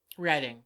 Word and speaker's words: Reading: Is it Reading or Reading, PA? Reading.